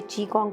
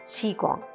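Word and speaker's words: qigong: सो कई लोग इसे चीकोंग बोलते हैं, कोई कीगोंग बोलते हैं और कई लोग इसको शीकोंग बोलते हैं। वि a different pronunciation but the right pronunciation is शीकोंग।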